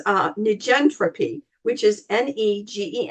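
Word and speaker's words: negentropy: So I'm going to say it and spell it for you. It's uh nentropy which is ne ge n t r o p y.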